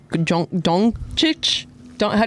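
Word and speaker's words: Dončić: Oh, and Luca Don Dongchic is um Don Donic. How do you say his name?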